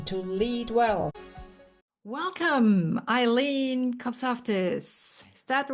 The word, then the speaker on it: Kopsaftis: hi and welcome to lead well welcome Eileen kofus is that the right way of pronouncing your yes my husband would be very